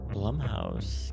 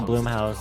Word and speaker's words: Blumhouse: Is it pronounced blum house or bloom house? I can never tell because the way that's spelled. I used to think it's Bloomhouse and I realized it's a U.